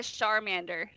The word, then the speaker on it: Charmander: Okay, Andrea calls that a Charmander, Alana. Pretty cute. Listen, I learned the lesson. It's char, like charbroil.